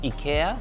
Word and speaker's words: IKEA: Cuz in Korea, and Japan, they call it Iika, which I believe is closer to how they pronounce it in Sweden. Ia. It seems that America is the only place where they call it IKEA.